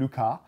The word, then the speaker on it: Lucas: จำนวนลูคัส ถูกตั้งชื่อตาม Edward Lucas แม้ว่าเขาเป็นชาวฝรั่งเศส งั้น 'ลูคา' แต่ผมจะออกเสียง 'ลูคัส' เพราะผมขี้เกียจ และถ้ามันไม่ได้เพื่อลูคัสแล้ว เราจะไม่สนใจเกี่ยวกับ Fibonacci จริงๆ